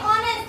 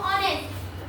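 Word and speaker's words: honest: Silent. जैसे ऑनेस्ट हम क्या बोलते हैं? ऑनेस्ट ऑनेस्ट बोलते हैं क्या? एच से शुरू होता है। लेकिन एच क्या है? साइलेंट है। वहां पे हम पढ़ते हैं उसको ऑनेस्ट।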